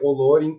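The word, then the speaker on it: Olórin: Não apenas o Gandalf, ele, como Olorin, ou no caso, também a pronúncia certa pode ser Olorin por causa do acento na palavra.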